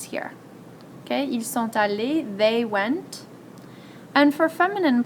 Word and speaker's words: allés: Ils sont allés. Again, doesn't sound any different, but we have to agree in gender and number.